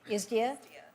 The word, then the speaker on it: ISDEAA: I call it ISDA. Does anybody else call it ISDA? There's been such debate about the correct pronunciation. So as a committee, I would like us to agree on just calling it isdia.